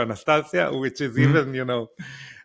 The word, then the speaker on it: Anastasia: yes but it's the same way you know Anastasia in America my wife is Anastasia that's not how you say her name in in Russian it's Anastasia by the way I don't in Hebrew it's called Anastasia and I call her Anastasia which is even you